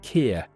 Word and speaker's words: Keir: does tariffs like me star actually sir it's pronounced Kier and about those tariffs uh Trump British steel